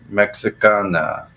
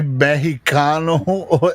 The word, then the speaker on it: Mexicano: Well, it's actually Mexicano. Isn't that what it's Mexicano. Like? The accent. It's Mexicano, right? I mean, the X is pronounced like an H, right?